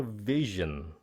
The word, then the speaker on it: vision: Anh chị, các phát âm khác nhau giữa vision, usually chỉ là job, gene, age, fridge.